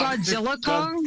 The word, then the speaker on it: Godzilla x Kong: new Empire March 27th you don't pronounce the X it's like Hunter Hunter wait so it's just called Godzilla Kong Godzilla cross Kong yeah yeah the the